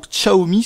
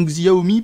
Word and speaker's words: Xiaomi: Xiaomi, en tout cas pour Xiaomi, si vous préférez cette prononciation. En tout cas, moi, je prendrai plutôt la prononciation Xiaomi parce que c'est comme ça que ça s'écrit.